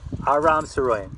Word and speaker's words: Aram Saroyan: Aram Saroyan, that's how you say his name.